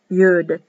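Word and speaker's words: יוד: the power letter yod you'd it's pronounced you'd like why you d you'd and it is sometimes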